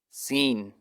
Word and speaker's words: س: Swad is a thicker version of sin. More space above the tongue is left than below to pass more air from above the tongue. Swad is pronounced by making rounded lips like an O shape. Sin is pronounced like you want to smile.